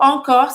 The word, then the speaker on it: encore: Não vai pronunciar o E no final, acaba no R.